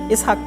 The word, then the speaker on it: ইসহাক: কিন্তু উচ্চারণ করা হয় ইংরেজিতে কি? আইজাক। কিন্তু আসলে কি? ইসহাক।